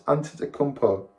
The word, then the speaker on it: Antetokounmpo: Giannis Antetokounmpo. You spelling that name is hard. Antetokounmpo.